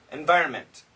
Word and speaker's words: environment: we keep the second environment environment environment a lot of people just pronounce the M actually you should pronounce the N too I tried to millions